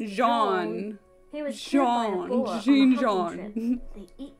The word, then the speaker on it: Jean: It's pronounced Jean.